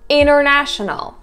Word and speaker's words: international: Second tip is that T is being completely removed. For example, international.